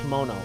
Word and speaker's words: kimono: heat heel kimono kimono I keep on pronouncing it wrong it's kimono where it's at Tina but